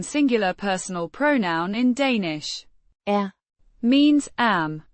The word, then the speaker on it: er: Er. Means am, pronounced Er. like the air in airplane, but slightly shorter and with a schwa sound like the in, about.